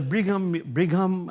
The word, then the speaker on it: Brigham: But number two in the Brigham, is how you pronounce it, Brigham Young University, number